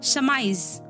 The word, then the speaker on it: surmise: अगला वर्ड है समाइज, SURMISE, समाइज, इसमें आर साइलेंट है।